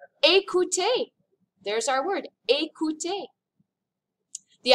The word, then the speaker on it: écouter: But when you see it with an accent aigu, it makes an A sound, as in the word écouter.